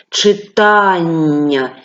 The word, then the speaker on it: читання: колосся вугілля змагання читання Зверніть увагу на наголос в останньому слові читання тільки так ми це слово вимовляємо у цих словах є